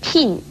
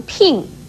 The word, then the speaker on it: 聘: 聘字的国语注音是聘，四声聘，也可以念成聘颇应聘四声聘。